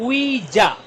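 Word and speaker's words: 의자: लफ बना हुआ है पहला सिलेबल है न के साथ डबल वावल है तो साइलेंट होता हम पढ़ेंगे ई के साथ जा ई जा कुर्सी नेक्स्ट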